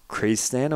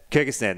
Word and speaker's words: Kyrgyzstan: Or I'm pronouncing Krezistan, or it's... Kyrgyzstan? Kyrgyzstan, that's Kyrgyzstan, one. Yeah. Always yeah. my Australian ocker thing. It is definitely Kyrgyzstan.